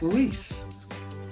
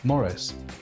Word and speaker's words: Maurice: Well, obviously, there's only one correct pronunciation, and that is Morris. Or Maurice. Take your pick, honestly.